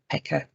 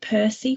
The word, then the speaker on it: PECR: trips off the tongue so pekka is how you say it used to work with a colleague who called it percy which drove me mad because it's not in the right order so where i'm gonna